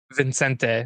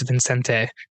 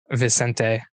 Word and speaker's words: Vicente: say his name and Vincente. That's what it is. because I always want to say Vincent, but I'm like, I know it's not Vincent. It's Vincente. Vicente.